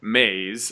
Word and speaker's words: Meis: This is Mays. That is spelled MEIS.